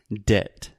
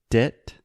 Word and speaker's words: debt: of a silent B debt d e b T we do not pronounce the b so you can imagine this word debt is just like d